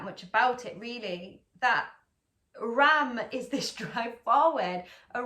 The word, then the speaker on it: Ram: The Sanskrit mantra is Ram, Ram, Ram. You don't need to roll your R. I don't know why that's happening to me today. Ram, Ram, Ram, R-A-M.